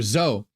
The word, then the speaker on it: Zoe: and we call her Zoe. That's awesome. Zoe or Zoe is a great name. I mean, you can pronounce. So it's Sophia's daughter. Sophia Zoe is Z-O-E. You could say Zoe or you could say Zoe.